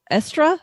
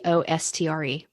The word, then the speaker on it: Eostre: Also, I think Estra. Mm-hmm. It's spelled kind of oddly, so it's a little intimidating to look at.